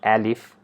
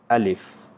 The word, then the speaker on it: alif: alif or it's not alif okay so we just need to pronounce it very in a very simple way with sound uh not a or not ah so it's a alif alif alif so there is no